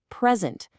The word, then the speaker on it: present: present. But when it's a verb, bam, the stress jumps to the second syllable.